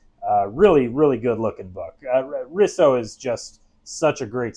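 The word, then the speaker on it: Eduardo Risso: replacement artist u in Edwardo risu I I never know how to pronounce his name risso yeah Eduardo Riso who is one of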